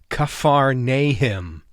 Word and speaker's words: Capernaum: Kafar nay him is how you pronounce Capernaum in Hebrew and we're going to